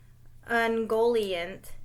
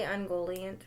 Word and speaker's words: Ungoliant: Ungoliant helps him plot. Light will be no more. Mm-hmm. Did I say Ungoliant right?